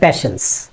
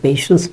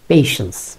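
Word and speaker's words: patience: আমরা বলি হ্যাঁ প্যাশেন্স। প্যাশেন্স না বলে যদি একটু পেশেন্স বলি তাহলে ভালো হয় আর কি। পেশেন্স, প্যাশেন্স।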